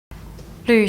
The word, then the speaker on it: 旅: So while we may first think of 旅客 as a tourist or traveler, we can also think of 旅客 as a journeying guest. Remember the special yu pronunciation of 旅.